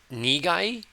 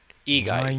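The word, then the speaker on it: 意外: This is, I want to say it's igai, like except for. No. This is unexpected. Is it nigai? 意外。 Igai.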